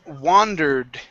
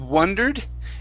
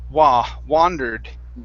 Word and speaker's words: wandered: word here is pronounced wandered instead of wondered it's an ah sound wandered wonderful wonderful okay good